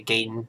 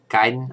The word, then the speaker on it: Gaiden: sorry i always say gayton if the corrupt pronunciation is guidance so i hate that after hearing that the correct pronunciation is gaiden i always say that because i always used to say gaydon is a kid so